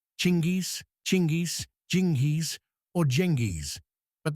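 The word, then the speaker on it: Чингис: If you look at the original Mongolian, the word is chingis, pronounced chingis.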